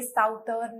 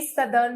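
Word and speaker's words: southern: हम साउथ बोलते हैं, और इसमें जब ERN लगा देते हैं तो अब ये साउथर्न नहीं होगा, अब ये सदर्न हो जाता है। नॉर्दर्न तो वैसे ही रहता है, लेकिन साउथ इसकी प्रोनाउंसिएशन चेंज हो जाती है जैसे ही ERN इसके बाद में अटैच होता है, तो ये हो जाता है सदर्न।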